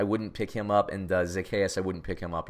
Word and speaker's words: Zaccheaus: Olamide Zaccheaus.